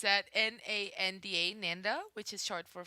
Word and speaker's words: Nanda: i i probably have to spell it though spell it okay it's at n-a-n-d-a nanda which is short for fernando and